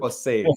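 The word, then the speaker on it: José: We say Jose. How to pronounce? Jose is good. Jose.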